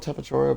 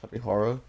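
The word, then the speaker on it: Tapejara: I call it Tapachora, but I think it's actually pronounced Tapihara.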